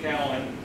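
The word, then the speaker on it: Kallen: this character, Horace Callan, got to learn to pronounce it correctly, Callan.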